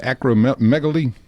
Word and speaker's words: acromegaly: Stood over seven feet tall and it was really caused by gigantism and acrome how do you say that? Acromegaly, I think that's the right way to say it.